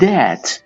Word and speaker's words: debt: برای اینکه pay his debt. بدهیش رو پرداخت کنه. توجه داشته باشید B در اینجا تلفظ نمیشه.